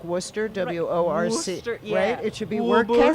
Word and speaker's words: Worcester: there's also well and it's how it's spelled versus how it's pronounced like Worcester Worc it should be